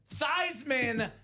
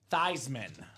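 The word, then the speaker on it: Theismann: let's go Mr David Soha it is Joe thyman the 1983 NFL MVP huddle around the campfire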